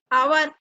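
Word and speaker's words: hour: ऐसे ही ये है जो आवर है ना, एच क्या है, साइलेंट है, हावर नहीं बोलते इसको, क्या बोलते हैं, आवर।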